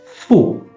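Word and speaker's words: ふ: It's not who but pronounced as fu fu fu fu.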